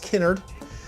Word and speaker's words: Kennard: Yes, it is pronounced Kennard. I do get Kennard a lot, probably more than Kennard.